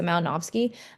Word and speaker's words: Malinowski: So I know this is a W, but it's pronounced like a V, so Malinowski.